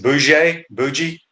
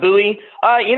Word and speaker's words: Bowie: Is it Bougie, kid from Bainbridge? Oh, Dion Bowie. Bowie. I think that early on, he's a former Georgia commit.